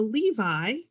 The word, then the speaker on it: Levi: There are, for example, the Levi, L-E-V-I, and the Levy families with a Y, the Meyer families, M-E-Y-E-R, and the Meyer family, M-A-Y-E-R, and both were pronounced Meyer.